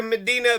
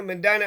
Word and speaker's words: Medina: Medina Medina I guess Medina Ohio says it's it's Medina it's Medina they'll say it's the opposite the people here say it's the opposite of how the people of Medina Ohio pronounce Medina so anyways uh we'll